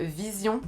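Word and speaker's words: VZION: YouTube, mais j'ai découvert un mec qui s'appelle Vision. Ouais. Ça s'écrit V-Z-I-O-N.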